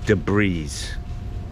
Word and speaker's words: debris: he pronounces the S debris I told him I I I commented on his on his site I said hey man the s is silent bro it's not the breeze